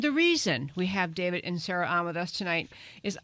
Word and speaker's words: Inserra: And sir, is your last name pronounced Inserra? You got it.